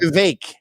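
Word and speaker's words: Vivek: vivec wasn't that popular VI it rhymes with cake they give me a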